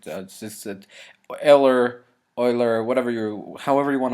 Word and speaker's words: Euler: a new function an Oiler or well I I say it Oiler because I know how to speak German just erer Oiler whatever you however you